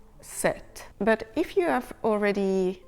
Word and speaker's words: sept: And 7, this time we actually do not pronounce the P, so not the final letter, the letter before that. So 7 is not pronounced sept, as in September.